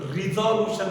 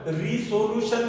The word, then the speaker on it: resolution: मग एखादा वेक्टर दिला असेल तर त्या वेक्टरचे कंपोनंट फाइंड आउट करण्याच्या प्रोसेसला स्प्लिटिंग, रिझॉल्युशन म्हणतात. काय म्हणतात त्याला? रिझॉल्युशन. रिसोल्युशन नाही म्हणायचं, स्पेलिंग तशीच आहे.